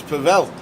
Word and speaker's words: Pavel: The pronunciation is the pronunciation rhymes with gravel, so it's Pavel.